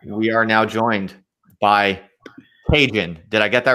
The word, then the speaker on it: Txgen: We are now joined by Txgen. Did I get that right? It's Txgen. Oh, you pronounce it with the hard G. Okay. Yeah. Okay. Txgen.